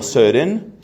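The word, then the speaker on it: Søren: llamado sobre en que se pronuncia como ser en kierkegaard kirkegaard desarrolla esa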